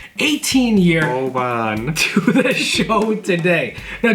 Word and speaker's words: Oban: We are very excited because Jason was kind enough to bring his Oban is the pronunciation, 18-year Oban.